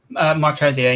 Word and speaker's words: Marcosia: Is that how you say it? Marosia.